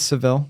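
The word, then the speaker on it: Sevilla: then I went to seevilla in Spain and loved it yeah seevilla seevilla do do some people pronounce it as sevil they do yeah okay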